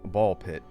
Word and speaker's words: Ball x Pit: first time on stream Ball Pit written as ball X pit, but I'm pretty sure the X is silent.